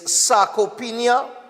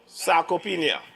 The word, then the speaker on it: sarcopenia: And today's topic is sarcopenia. And you know what happened? I will let Seth pronounce that second word.